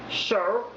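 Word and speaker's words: shew: Yes, The spelling is different, but pronounced the same way as today. that's right. S-H-E-W, show, is the same as S-H-O-W.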